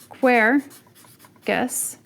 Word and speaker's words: Quercus: So if I use the word quercus, you're going to put that on the first.